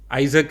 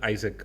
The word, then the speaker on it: Isak: Yeah I think the week has been highlights of people named Isaac and Alexander.